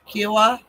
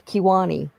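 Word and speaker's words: Kiowa: Kiwa. That's not how you say it. But okay, I know what you're talking about. Well, how do you say it? It's Kiwani.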